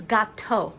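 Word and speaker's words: gâteau: gato de patate and in french it's gato like the word present gato that's what i said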